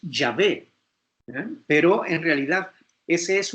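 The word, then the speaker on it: Yahvé: le añadieron las vocales se escribe jehová aunque la pronunciación en hebreo es llave pero en realidad ese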